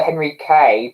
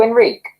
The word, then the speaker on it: Henrique: pronunciation the first one not the henry k but the h is not pronounced oh so enrique enrique i think that's your